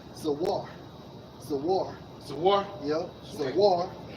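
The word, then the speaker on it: זוּר: Okay, for strangers in Jeremiah 30:8, Strong's H 21:14, pronounced as Zawar.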